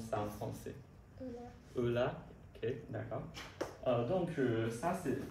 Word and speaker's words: Euler: Et comment on prononce ça en français? Euler.